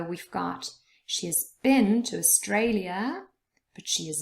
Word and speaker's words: Australia: has been to Australia Australia has three syllables and the middle one is stressed Australia but she has not